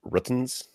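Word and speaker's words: RTINGS: It's pronounced Ruttens.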